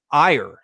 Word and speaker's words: Aegir: And I believe your name is pronounced Aegir. Is that correct? Yeah, that's pretty spot on.